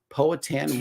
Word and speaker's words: Powhatan: Yes, killing at least 347 colonists and initiating the Powhatan War.